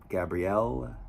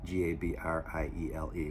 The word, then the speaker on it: Gabriele: His father was Gabriel, I'm not sure I'm pronouncing it right, Gabriele, what's faithful to the Italian pronunciation, but Gabriel Rossetti, who